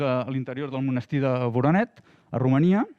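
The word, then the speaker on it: Voroneț: I aquí un altre exemple, en aquest cas a les parets a l'interior del monestir de Voronet, a Romania, o Voronets, crec que s'ha de pronunciar, en què es va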